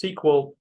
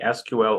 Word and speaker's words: SQL: topic that is SQL sometimes s also referred to as SQL either way it's correct pronunciation you can say SQL or SQL we will talk about